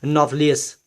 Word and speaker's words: nauplius: को हम कहते हैं नॉफ्लियस। यहाँ पर लफ्ज़ है NAUPLIUS, नॉफ्लियस, इसको हम पढ़ सकते हैं, प्रोनाउंस कर सकते हैं।